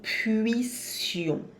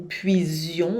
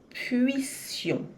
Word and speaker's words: puissions: Cuidado para não dizer puise ou puision. O som não é z, é s, de sapo, tá? E marca bem o biquinho para ter o u.